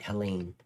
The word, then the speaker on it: Helene: I said it right, Helene.